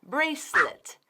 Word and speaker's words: bracelet: Bracelet. Es escrito como bracelet, pero es 2 sílabas. Bracelet.